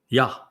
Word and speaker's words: Yah: Yah is the first syllable of Yahweh's name. You could make it Yah, but it's the Y in Hebrew is pronounced identically to the Y in English. It's where we get it, that pronunciation. So it's Yah, as in Hayah. And the ending, the concluding